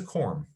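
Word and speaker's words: corymb: parts of this but this is a quorum c o r y m should be ending like that but we've got a silent b at the end of it why because we can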